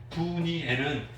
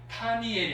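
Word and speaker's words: 브니엘: 그래서 분이엘은 파님 플러스 엘 해서 하나님의 얼굴이라는 뜻인데 발음이 파니엘이 아니고 부드러워졌어요. 그래서 분이엘로 불러요.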